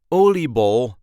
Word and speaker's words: oliebol: So this is the plural version of the word because, you cannot just eat one oliebol, but if you need to, Oliebol is the singular version of it.